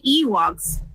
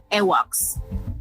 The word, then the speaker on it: Ewoks: me cry you know I used to say that name wrong do tell because you know my first language is Spanish right so I wouldn't say Ewoks the first time I said that name I said awok awok and I remember I